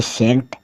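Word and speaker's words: scent: जो अल्फाबेट है वो कौन से वर्ड्स में साइलेंट रहता है एस सी ई एनटी एस सीई एन टी सेंट सेंट मतलब गंध एस सी ई एन ई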